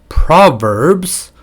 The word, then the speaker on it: proverbs: 이렇게 발음하는 부분이 있는데 일단은 proverbs 오케이 PR proverbs the V V 발음 제일 힘들죠 아 아랫 그 입술을 좀 깨물이음 proverbs proverbs and become and